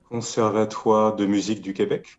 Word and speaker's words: Conservatoire de Musique du Québec: The Conservatory of Music in Quebec, but you would say it as? Conservatoire de Musique du Québec.